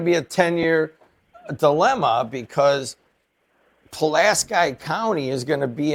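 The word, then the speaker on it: Pulaski: This is going to be a 10-year dilemma because Palaski County is going to be in our district, it looks like, and we have to decide how to pronounce that. I'm pretty sure it's Palas Sky County.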